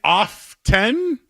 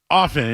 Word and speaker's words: often: Is it often or is it often? That's the one. If If you don't pronounce the T, I think you sound lazy.